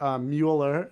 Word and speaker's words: Mueller: That counsel is Robert Mueller, if I'm pronouncing that correctly. It's actually pronounced Mueller.